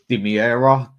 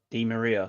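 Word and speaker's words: Di María: have said some really good ones here, like Dimiera. That wasn't a good one. That went up tits up. Who's that? Dimiera. Who? Dimiera. Is that how you say his name? Di Maria.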